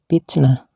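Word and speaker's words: فتنة: Dah Bila dihentikan membacanya maka ta marbutnya nya harus dibaca ha seperti kalimat picnatan picnatin dan pitnatun ini harus dibaca pitnah yang kelima ialah kalimat-kalimat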